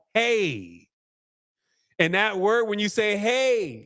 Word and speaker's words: Ai: how you pronounce this AI is not called AI it's called hey and that word when